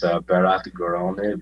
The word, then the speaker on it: Berat Gorani: It's Berat Gorani, but like Berat Gorani, like that?